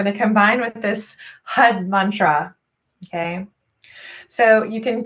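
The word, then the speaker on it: har: chant along with this hud sound and it's actually h-a-r but i'm gonna type this in it's spelled h-a-r but when you pronounce it you wanna roll the r the best that you can so the r is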